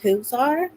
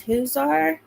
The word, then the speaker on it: Huizar: like that it's Elias I've heard his name pronounced whoar Elias whoar and he was 39 years